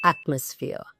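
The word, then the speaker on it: atmosphere: It's actually एटमॉस्फियर।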